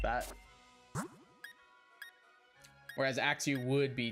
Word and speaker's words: Axew: Axew is 2 syllables because it goes Axew, whereas Cloth is 1 syllable because it goes Cloth, like just like a hard like stopping point.